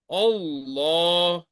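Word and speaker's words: الله: is preceded by fata or dma Lam of Allah will be pronounced as thck just like Allah Allah and when word Allah is preceded by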